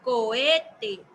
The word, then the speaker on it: cohete: Entonces, yo puedo notar que cuando lo pronuncio cohete, la que estoy pronunciando más fuerte es E.